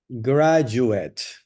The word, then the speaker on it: graduate: Graduate, graduate. Como si fuera you. La D no suena como D en esta palabra, Graduate. como la palabra jazz, graduate.